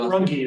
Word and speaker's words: Runge: Rung. Am I pronouncing your Rungi is how we get we say Yeah.